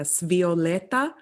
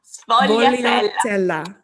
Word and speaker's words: sfogliatella: you have a wonderful Italian coffee and a svioletta. What are you eating? Sfogliatella. Very difficult to pronounce.